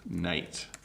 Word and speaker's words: knight: And you could say he was a brave knight. I think I spelled that wrong, knight, there we go. So night and night are pronounced the same.